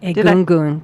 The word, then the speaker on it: Egungun: Egungun, the Egungun. Yeah, I pronounced it correctly.